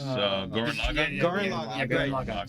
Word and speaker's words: Gurren Lagann: That's Gurren Lagann.